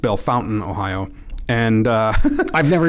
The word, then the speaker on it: Bellefontaine: area I was born in the uh oft mispronounced Bellefontaine Ohio and uh I've never even heard it did you make that up no no no people call it Bella Fontaine I I grew uh who did most of